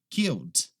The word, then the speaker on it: killed: A próxima é similar, é essa aqui, ó, killed. Killed. A gente não fala killed, tá? Não pronuncia aquele E ali. Então, simplesmente killed.